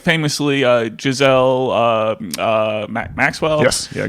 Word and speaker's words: Ghislaine: Mossad are obviously tied together, and like famously Giselle Maxwell. Yes, yeah, Ghislaine Maxwell, Ghislaine. I don't know how to pronounce her name.